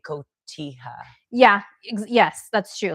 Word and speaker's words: cotija: And yeah, but you would do better with like cotija.